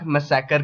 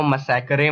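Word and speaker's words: massacre: इसी को हम लोग जलियांवाला बाग मैसेकर के नाम से जानते हैं। अब गवारों, मैसेकर को मैसेकरे मत पढ़ लेना, वरना क्लास में भरी महफिल में बेइज्जती हो जाएगी। सो इसको मैसेकरे नहीं मैसेकर बोलते हैं।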